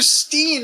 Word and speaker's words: Stein: and how many teeth Dr Steen it's spelled Stein Dr Steen is how they sing it they're Germans not I